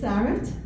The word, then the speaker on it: Sarette: going to say my name my name is sarit like you say parent of Karen is a